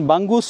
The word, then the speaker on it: Bangus: এন জি ইউ এস কেউ কেউ উচ্চারণ করছেন বাঙ্গুস কেউ কেউ বলছেন বুঙ্গুস দুটোই মনে হয় ঠিক চলে এসেছি প্রায় এই